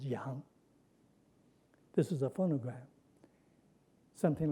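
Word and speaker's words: 洋: This part tells you that it's pronounced something like yang. And in fact, it is pronounced yang.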